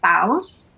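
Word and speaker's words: Bawse: realized that you're coming up on, is it Baus? I know I'm not going to pronounce it. No, you nailed it. Baus.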